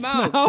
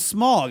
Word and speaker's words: Smaug: It's Smaug. Hey, listen. Yeah, you have to overpronounce it for some reason. I don't know why. I always thought it was Smog.